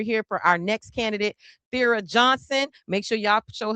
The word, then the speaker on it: Thera: And is it Thera or Thera? I just want to make sure I'm saying it correctly. It's Thera.